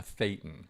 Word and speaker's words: thetan: A thetan is the word uh for that in Scientology. Uh ironically rhymes with Satan.